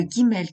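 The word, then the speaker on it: גימל: Le Aleph correspond au A, le Bet correspond au B, le Gimel qui correspond au G lorsqu'on le prononce G occupe étrangement la place de notre C.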